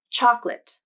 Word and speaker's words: chocolate: it's the way that most native speakers will pronounce that word i'll start with a common word chocolate this one probably isn't a surprise for many